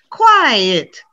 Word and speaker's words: quiet: yeah again one syllable now listen to two syllables quiet quiet so if i can't hear him he's so quiet we need to pronounce two syllables this another problem where